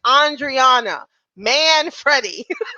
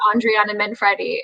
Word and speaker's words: Andriana Manfredi: Will hopefully he will hear this and realize that it is Andriana Manfredi.